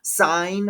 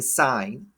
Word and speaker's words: sine: quick um first off sine a function is abbreviated as si n is still pronounced sine it's not sin right and then cosine